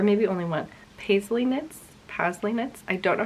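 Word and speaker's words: Pasley: only one paisley knits pastly knits i don't know how to pronounce it because i always thought that it was paisley but there's no i so it's p-a-s-l-e-y knits um and the dyer's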